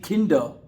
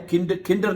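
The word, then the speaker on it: Kinder: ठीक है, आखिर में आर आ रहा है, किंडर नहीं कहना, किंडर, किंडर है। ये बात आप याद रख लीजिए कि अगर आर लफ्ज के आखिर में आएगा तो उसको आपने खामोश रखना है, साइलेंट कर रखना है उसको।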